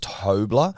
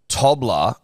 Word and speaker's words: Tobler: and The Listener that his last name's pronounced tobler problem is problem with that is that tobler which is the correct pronunciation for his last name and tobleron don't sound the same no they don't one's